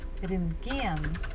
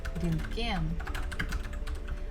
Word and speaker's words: рентген: Also, stress falls at the final syllable, gen. Рентген, рентген.